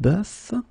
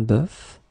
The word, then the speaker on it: bœuf: first one is un bœuf, un cœur. It's actually quite interesting, because even if you write them differently, you pronounce them the same way. Un œil, un œuf, une sœur. Okay, so un bœuf, un cœur, un œil, un œuf, une sœur.